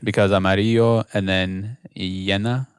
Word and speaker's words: llena: Well, both of those sound like a Y. Llena, and amarillo. No, but it's a double L. The way you spell it. Yeah. So they're both double L's, and they both do the Y sound, right?